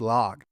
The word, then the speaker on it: LOQ: Now, this is the first time I'm taking a look at one of their lock series PCs. Uh, LOQ, it is pronounced log.